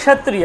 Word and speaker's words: ক্ষত্রিয়: দেখুন ক্ষত্রিয় যখন উচ্চারণ করছেন, ক্ষত্রিয় কটাকে প্রথমে হালকা উচ্চারণ করছেন, ক্ষত্রিয় ক্ষত্রিয় ক্ষত্রিয়, কটাকে আপনি বলতেও পারছেন না। বলতে পারছেন? বলুন তো একবারও, কটা আসছে বলতে পারছেন? পারছেন? হ্যাঁ, একদম সামান্য, একদম সামান্যতম আসছে, তাহলে উচ্চারণ হচ্ছে ক্ষত্রিয়